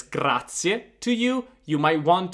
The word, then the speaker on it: grazie: I want to hear that final E.